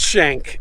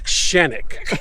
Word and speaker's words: Shenik: It's not Shank, it's Shenik.